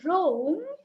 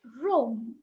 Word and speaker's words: wrong: it does hi and if I say wrong the ear is not come out so it's oh so it's wrong and if I say